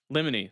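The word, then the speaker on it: Limine: Uh li lemony lemony. There we go. Like lemony snick.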